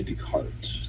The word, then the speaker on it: Descartes: Rene Descartes. That's how you say that? That's how you pronounce it. Yeah. Oh, so the S is silent.